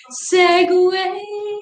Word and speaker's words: segue: me about kickstart yeah so segue is pronounced the same as segway maybe that's on purpose